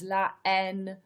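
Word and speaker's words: La Haine: the riots the n french pronunciation is la en which means hate is a 1995 french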